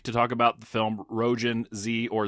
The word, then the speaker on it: Roujin Z: And we are reunited again uh this week to talk about the film Roan Z or Zetto if we want to be Japanese about it as we found out before the uh the pronunciation is is more accurately pronounced from 1991.